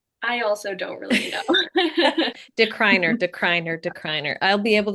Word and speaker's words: DeCruyenaere: that would be the phonetic way you would say it, but we like our anglicized version, we just say decliner.